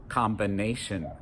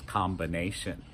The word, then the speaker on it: combination: like in the word combination. We have an M and a B in the middle together, and we pronounce both sounds, combination.